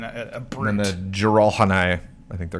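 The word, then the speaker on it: Jiralhanae: And then the Jiralhanai, I think they're called.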